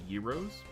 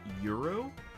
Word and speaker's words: gyros: I used to think that they were called Gyros, but I was corrected by someone a few days ago where he said it was called, it's pronounced something like Euro.